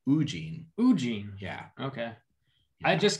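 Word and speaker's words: Woo-jin: the mastermind teen so like eugene but instead of you it's ooh oo jin jin yeah okay i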